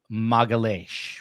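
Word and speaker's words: Magalhães: So there's a woman by the name of Juliana Peres Magalhaes, which is the Brazilian pronunciation.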